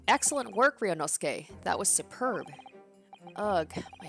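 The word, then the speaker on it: Ryūnosuke: guys for letting me know about the proper pronunciation uh ryonosuke so hopefully that is better so he is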